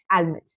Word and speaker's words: almond: Almond. Well, it's the wrong pronunciation. You must have heard so many people saying almond. It's wrong. It's called almond. Almond. The L is silent over here.